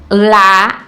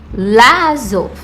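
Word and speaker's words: לעזוב: A gente tem que pontuar isso bem direitinho, porque a gente precisa pronunciar esses dois A's. Eu não posso falar Lazov, porque tá errado. Eu tenho que pronunciar os dois sons de A.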